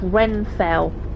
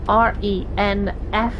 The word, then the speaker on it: Renfail: There's a channel called Renfail, R-E-N-F-A-I-L, Renfail.